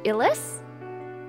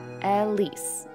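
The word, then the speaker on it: Ylisse: is called the exalt Elis closer to Iris like the iris flower I always pronounce it yis Elise Elise okay got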